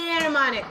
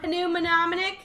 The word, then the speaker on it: mnemonic: Mnemonic. Mnemonic. Mnemonic. Pronounce it like it doesn't have the M in front of it. What would you say? Mnemonic. If this Mnemonic. it's a silent M, so Pneumonic.